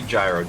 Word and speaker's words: Jiro: It would be Gyro or Eb, whatever you want to call him.